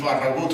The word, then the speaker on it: Farragut: That was David Farragut. More accurately pronounced David Farragut, whose father was a Spanish soldier who fought on behalf of the Americans in the Revolutionary War.